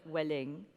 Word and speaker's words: Welling: We decided it wasn't going to be Marx, it was going to be Max, but with the emphasis on the Welling, but Welling.